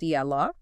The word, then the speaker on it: Eala: We are talking about Alex Ela that's pronounced yala and her well frankly unprecedented Wimbledon debut.